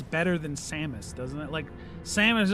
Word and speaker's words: Samus: just whenever I hear the name Samos, that's kind of the image it evokes for me. Samus is uh is a lot more transatlantic and uh I don't know. It just has a more musical sound to it.